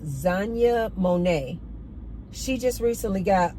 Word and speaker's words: Xania: Did you guys see this AI music artist, R&B, called Zanya Monet?